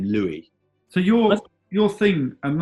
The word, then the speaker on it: Louis: Yeah, but I don't know if you say "Louie"-Dreyfus, or... I think it's "Lewis" but it's spelled like the Christian name Louie.